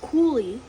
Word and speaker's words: coulis: It's pronounced coulis.